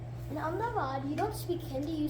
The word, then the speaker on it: Ahmedabad: So like I said, Ahmedabad's pronunciation, the harder way is Ahmedabad or Ahmedabad. Ahmedabad is the easier way.